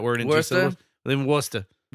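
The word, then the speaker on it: Worcester: We live in Worster. That's I'm like how is that word two syllables? You can't say that word in two. Live in Worster. Worchester.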